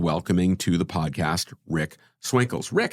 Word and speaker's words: Swinkels: So, please join Daniel and Ni and welcoming to the podcast Rick Swinkles. Rick, how are you? I'm good. I'm good. It's nice to hear you pronounce my name, but it's you did it perfectly well.